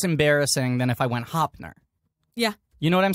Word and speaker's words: Hoepfner: Hoepfner? That's really close. Ooh, baby. The P is silent. It's just Hoepfner. Hoepfner.